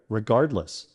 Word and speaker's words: regardless: Let's break it down. Guard rhymes with hard, less. Let's put it all together. Regardless. Be careful of this common